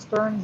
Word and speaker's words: Stearns: what what Sandy the name of this it's pronounced Stearns and Foster you're spelling Sterns in the chat